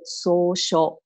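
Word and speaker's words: 草書: In Japanese pronunciation, we call it 草书, right?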